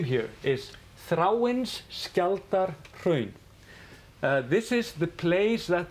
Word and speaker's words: Þráinsskjaldarhraun: So you say Þráinsskjaldarhraun.